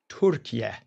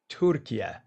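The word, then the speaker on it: Türkiye: It's properly pronounced Turkiye, Turkiye.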